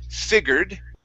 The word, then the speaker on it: figured: There's the British way, which is figured. Okay. Still, we're going to have a short I at the beginning, and then it's going to be an er sound, figured. Okay. Or the American way is figured.